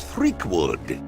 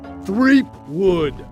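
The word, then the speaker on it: Threepwood: tell me you found guy brush threakwood it's three wood is it me or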